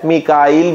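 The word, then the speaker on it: ميكائيل: मीकाल इस्तेमाल हुआ है, हाँ हदीस में जिब्राइल भी आया है, मीकाइल भी आया है, तो दोनों तरह से ठीक है, लेकिन कुरान में जो प्रोनाउंसिएशन आई है लफ्ज की वो है जिब्रील और मीकाल।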